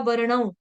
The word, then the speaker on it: वर्णम: मैंने यहाँ पे साफ बताया था, यहाँ पे व है तो यहाँ पे उच्चारण होगा वर्णम। माता जी मैंने तो वरना नहीं बोला था, किसी और ने बोला होगा।